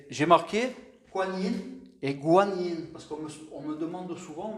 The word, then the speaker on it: Guan Yin: Donc voilà, en France, on va savoir pourquoi ils ont préféré l'appeler Guan Yin, la prononciation Guan Yin, alors que ça se prononce tout aussi Kuan Yin, c'est pareil.